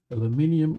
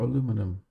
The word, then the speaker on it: aluminium: for me to pronounce aluminum aluminium or aluminum two ways to pronounce it um we go to